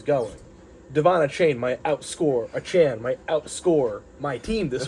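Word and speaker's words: Achane: aan he said there was something where he pronounced his name in an interview it's not a chain it's it's it's Devon Devon aan I I don't even think it's that it's like a Chan it's something here we go Devon chain pronunciation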